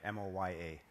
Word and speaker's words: Moya: M O Y A.